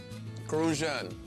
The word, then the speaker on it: Crucian: Crucian. You gotta say it like that, Crucian.